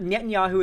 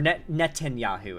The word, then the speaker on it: Netanyahu: like Palestinian civilians that Netanyahu is the face of that okay and he is personal friends or Netanyahu is how it's pronounced my bad Netanyahu is personal friends